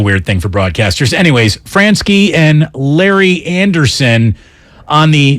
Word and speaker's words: Franzke: Is it Franzke? Yeah, Franzke.